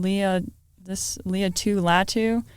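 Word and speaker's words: Laiatu Latu: Leah Latu.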